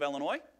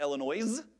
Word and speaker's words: Illinois: I grew up in the great state of Illinois not Illinois as my children make fun of it you don't pronounce yes we think we've had winter in